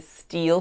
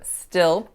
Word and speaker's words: still: the word still so instead of making that vowel really lacks I made it tense so it sounded like the verb to steal something like to take something that's not yours instead of still as as would fit in this context the next mistake that